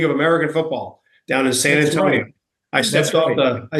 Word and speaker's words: San Antonio: American football down in San Antonio I stepped off the I stepped off the bus and I learned how to say son Antonio you have to say it right San Antonio and I had this